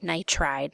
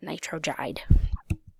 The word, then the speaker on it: nitride: sounds weird okay we'd go with nitride not nitro guide so our total for